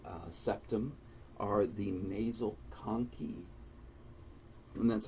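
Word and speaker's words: conchae: septum are the nasal coni and that's how you say that it's K and then key just like a key to a car is how you pronounce that second syllable so the nasal coni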